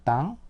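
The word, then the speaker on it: temps: 프랑스 현대프 에서는 이게 이제 이렇게 이렇게 되죠 땅 이것도 마찬가지로 땅이죠 땅 그러니까이 템포 영어는 영어는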